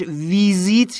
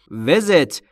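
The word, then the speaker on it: visit: ملاقات کردن عزیز دلم تلفظش ویزیت نیست وزت ایها هاش بین ای و ا وزت یعنی ملاقات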